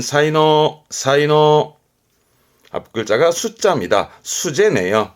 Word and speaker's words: 才能: 발음은 사이노, 사이노.